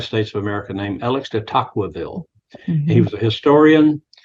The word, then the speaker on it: de Tocqueville: I pronounce it de Tocqueville. Tocqueville.